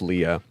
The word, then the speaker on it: Leah: thing her name is spelled leia but it's pronounced leah it's spelled leah is spelled l-i-a in my